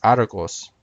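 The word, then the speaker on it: Ἄργος: Argus also ends in US. However, that's a Latinized version of the Greek word, which in Greek is Argos.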